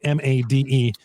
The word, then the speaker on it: Made: It's spelled Made, M-A-D-E, but I'm pretty sure it's Made.